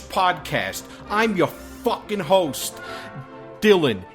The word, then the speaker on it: Dylan: I'm your fucking host, Dylan. It rhymes with Rillin.